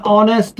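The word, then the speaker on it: honest: তাহলে an unlucky person, an honourable person, an অনেস্ট ম্যান, এই জিনিসগুলা মূলত আমরা অ্যান ব্যবহার করব, কারণ এগুলা এইচ এর উচ্চারণটা হয় না।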